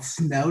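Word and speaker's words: sneaux: orleans we do something we call snow day and it's spelled s-n-e-a-u-x kind of that cajun style basically we bring in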